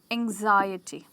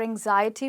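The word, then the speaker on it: anxiety: stress है ए पे हम इसको बना सकते हैं एंजाइटी ओके और एंजाइटी में जैसे आपने गेस कर लिया होगा हमारा स्ट्रेस आई पर पहुंच चुका है और ये बन गया है एंजाइटी राइट तो हमने आज फाइव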